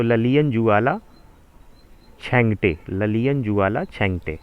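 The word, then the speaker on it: Lalianzuala Chhangte: लेकिन अगर 2022-23 की बात की जाए तो ललियन जुआला छेंगटे, ललियन जुआला छेंगटे, अब उच्चारण कुछ भी और कर लें आप, लेकिन जनरली यही होगा, ललियन जुआला छेंगटे।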